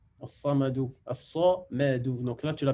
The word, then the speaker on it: الصمد: As-samadou. As-samadou. Donc là, tu l'as bien prononcé. Le sa, il est bien emphatique et le ma et le dou, il est affiné.